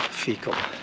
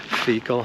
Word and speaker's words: Feakle: And believe it or not, out of all the names, it's called Fecal. It's Fecal, Ireland. It's spelled differently, but it smells the same.